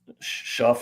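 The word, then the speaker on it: Shough: Like some teams, getting back to the quarterback, Tyler Schuff. I don't really know how to pronounce his name. Tyler Schuck.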